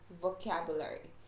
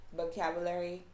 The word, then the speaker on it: vocabulary: you tend to hear words that have v in them give a b sounding so for example the word vocabulary vegetables you will hear them say like vocabulary vegetables things like that so the pronunciation for v should be right not but so that's a big thing to make note of right so vocabulary vegetables vehicle